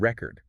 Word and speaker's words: record: meaning and grammatical function consider the word record stress the first syllable and it's a noun like a vinyl record stress the second syllable and it becomes a verb to capture something wow the word record